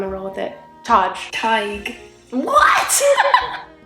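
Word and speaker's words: Tadhg: roll with it Taj TIG what where did the D go she said TIG so the D turned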